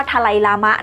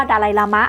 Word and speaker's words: ดาไลลามะ: สำเนียง ชิ เบต เนี่ย เขาค จะ เรียก ว่า ทะไลลามะ นะ คะ ที่ แปล ว่า ทะเล ใน ขณะ ที่ ฝรั่ง อาจ จะ ฟัง ไม่ ชัด หรือ ว่า ออก เสียง ไม่ ได้ ก็ เลย เรียก ว่า ดาไลลามะ ค่ะ แต่ เอา ว่า ใน สมัย เ ตำแหน่ง